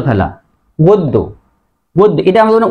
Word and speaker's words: গদ্য: এটা নিয়ম ছিল যে শব্দের মাঝে বা শেষে যদি জফলা থাকে তাহলে জফলা যুক্ত বর্ণ দুইবার হয়।